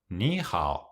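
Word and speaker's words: 你好: Khi hai âm thấp (hoặc âm thứ ba) nối tiếp nhau, âm đầu tiên được phát âm trên âm tăng, nhưng chúng ta giữ âm thấp trong cách viết: nǐhǎo.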